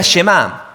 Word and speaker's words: Shema: Shema tiene este peso. La primera palabra del Shema es oye o escucha. Y en hebreo se pronuncia Shema.